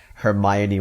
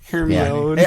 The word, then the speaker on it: Hermione: Until Goblet of Fire, I just read all the books in a row, and I thought that Hermione was pronounced Hermione for longer than I should have.